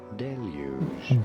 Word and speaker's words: deluge: there are 2 different ways of saying it. Okay. The first way is as deluge. Deluge. This Deluge. is probably more the British English pronunciation. Oh, it's the British English It pronunciation. is often said as deluge. Deluge. In American English versus deluge. The difference being it's deluge versus deluge. So it's deluge.